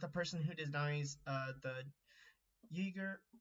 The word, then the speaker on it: Uyghur: Very weird that you're friends with a person who denies the Uyghur, I think it's Uyghur, that's how you pronounce it, genocide in China, and then she's also friends with the same person that calls black people the blacks.